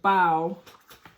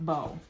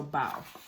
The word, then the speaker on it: bao: what the pronunciation is so bow like foul not like bow so bow amy wu and the